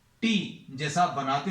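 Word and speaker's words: τ: टी जैसा आप बनाते हैं उसको थोड़ा सा कर्व कर देना. So this is pronounce as, इसको कैसा प्रोनाउंस करते हैं? टॉ.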